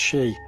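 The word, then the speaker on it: 四: In Japan the number four is considered unlucky as it's pronounced 'shi' and sounds the same as the word for death.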